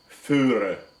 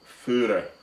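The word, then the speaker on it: Voere: that would be pronounced Führer. All right, if you read it, it says Voer, right? But V is pronounced as an F in German, Austrian. So that would be Führer, yeah.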